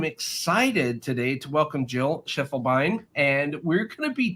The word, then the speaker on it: Schiefelbein: And today we're going to be talking with Jill Schiefelbein, or Schiefelbein, pronounced in German there.